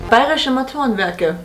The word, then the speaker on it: Bayerische Motorenwerke: 원어민 발음은? Bayerische Motorenwerke.